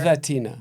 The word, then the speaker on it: Zvetina: Zvetina.